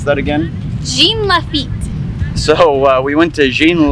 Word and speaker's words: Jean Lafitte: National Park as a family how do you pronounce that again Jean Lafitte so we went to Jean Lafitte National Park